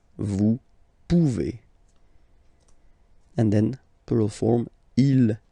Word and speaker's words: pouvez: Then vous pouvez. Okay, classic ending as well for the vous form. A Z like that. Okay, remember you pronounce it e. Okay, vous pouvez. Vous pouvez.